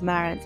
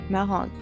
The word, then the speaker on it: Marans: french person around so first and foremost never use a singular version of marant AKA never pull a chicken Mara instead always go with malhon second of all remember the S is silent so pronounce it more